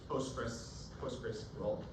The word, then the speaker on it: Postgres: confused about this before, the American pronunciation is Postgres, the British pronunciation is Postgre. Okay, so Postgres. So we'll call it Postgres.